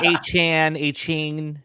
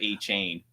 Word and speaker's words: Achane: Last year it was A-Chan, remember? Yeah, so there's always one. And it's funny, Devon Achane did, play worse when he changed his name from A-Chain.